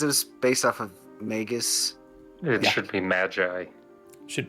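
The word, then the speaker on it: Maygus: just like that guh but spelling of magus is m-a-y-g-u-s it's May and Gus put together yeah g-u-h I think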